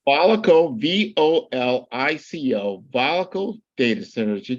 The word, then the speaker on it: Volico: Volico, Volico, Volico data centers.